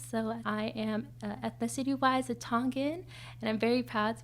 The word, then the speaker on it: Tonga: But yeah, Tonga [American English pronunciation TAHN-guh] or Tonga [Tongan pronunciation TOHNG-uh] is the small, small island in the South Pacific.